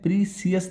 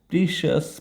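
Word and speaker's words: precious: है इसे पढ़ते हैं प्रिसियस नहीं पढ़ते ध्यान से सुनना प्रिसियस नहीं पढ़ते प्रिशियस पढ़ते हैं शस शस प्रिशियस ठीक है इसे कहा प्रिशियस हो गया और दो तीन वर्ड ऐसे है जिसको गलत प्रोनाउंसिएट करते हैं।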